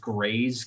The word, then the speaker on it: Grist: It's spelled out Grist, but I believe it's pronounced Grays because they're from France-Canadian.